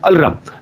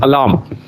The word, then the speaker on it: alarm: got the information that this word is not pronounced as Alam it is alarm so that is the